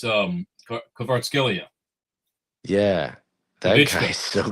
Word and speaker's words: Kvaratskhelia: It's Kvaratskhelia.